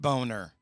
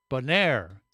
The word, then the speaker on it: Bonaire: well now I'm confused it's not pronounced boner no I said boner Bonaire do they have ice